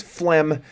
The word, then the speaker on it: phlegm: Otherwise, you can also have the same old types of things like a PH meaning F. So then you get the beautiful spelling that is phlegm, PHLEGM with a silent G in there.